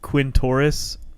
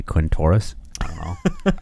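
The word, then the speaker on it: Quintorris: is it is interesting it sounds like you pronounce it Quinn Taurus Lopez yep Jones sounds like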